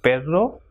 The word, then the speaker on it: perro: If two R's, that is doble R, comes together, it will pronounce as R. So, perro or correr.